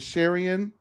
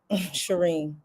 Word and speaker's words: Shireen: is Apollo Nida and Sharian. Sharian has officially, Shireen. I like Sharian. Okay, her name is Shireen.